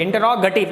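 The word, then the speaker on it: interrogative: दूसरा type इंटरोगेटिव, इंटरोगेटिव, इंटरोगेटिव, गेटिव नहीं है बच्चों, ये गेटिव नहीं है, ये गटिव है, इंटरोगेटिव। इसका सही प्रोनाउंसिएशन, सही उच्चारण इसका इंटरोगेटिव है।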